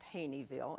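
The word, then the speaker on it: Haynesville: hamlet of hain't evil which is pronounced hain't evil H a y KN ee v IL le even though it's not spelled that way I was goggle eyed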